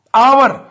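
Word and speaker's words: hour: तो यूअर यहां पर जो एच हमारे पास लैटर है इस साइलेंट इसको हार नहीं करते और आवर अली अजमत आइसक्रीम पड़ा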